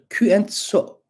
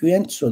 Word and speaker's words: Küentso: Eski Uygurca'da Küentso diye okunuyor. Küentso. Ama eski Uygurca'daki Çince kelimelerin yorumuna göre bunu H ile, Hatay'ın H'sine Hüentso da okuyabiliriz. Kimileri bunu Huintso diye de okumuştu.